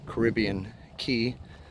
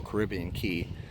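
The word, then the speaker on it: Caribbean Cay: it Caribbean K or Caribbean Key and I actually saw that several people said that both pronunciations were correct but more people said key so I will go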